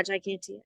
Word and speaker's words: gigantea: Yeah, gigantea.